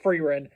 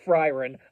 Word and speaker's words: Frieren: only last episode learned that her name is pronounced frein not frien I have been pronouncing it frien this entire time and that that was rather